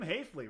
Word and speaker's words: Haefele: Uh once again, Jim Hafley rhymes with safely a oneVP victor over Ted Liverour in final scoring.